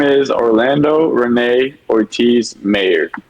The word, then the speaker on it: Mayr: is Orlando Renee Ortiz mayor mayor mayor it is Mayor I promise you it is Mayor like Goldie Wilson and back the future